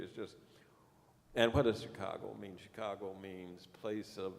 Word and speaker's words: Chicago: from the Chicago area, which actually is a mispronunciation of the native word, which is Zhigagon, Zhikagong. That's English letters, you see. But the natives didn't use English letters. So we approximate. Chicago sounds something like it.